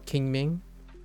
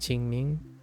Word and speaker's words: Ching Ming: time uh we do king Ming uh or I guess in this case it's pronounced Ching Ming uh I say King Ming but Ching Ming where is it it's